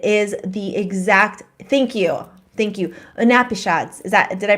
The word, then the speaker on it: Upanishads: all because it is the exact, thank you, Upanishads. Did I pronounce it right? Upanishads, yeah.